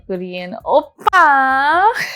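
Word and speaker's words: 오빠: your older brother and obviously you gotta say it like a korean oppa so um yeah basically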